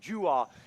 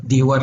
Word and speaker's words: Dewar: Dewar ang pronunciation natin dito eh. Ginamit na rin itong brand sa mga tools. So Dewar.